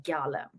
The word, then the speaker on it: Galem: So the correct pronunciation is Galem.